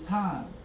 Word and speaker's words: thyme: Remember, what you want to take to help your lungs is thyme. It's THYME is how you spell it.